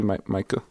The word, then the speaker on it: Meike: But Meike, am I pronouncing that correctly, Meike?